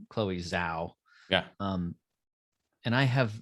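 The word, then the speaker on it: Chloé Zhao: director and i believe her name is pronounced chloe zao yeah um and i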